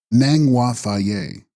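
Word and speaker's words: sNang-ba mTha'-yas: Text: Snangva Thayas, pronounced Nangwa Thaye, Sanskrit Amitba, boundless or incomprehensible light.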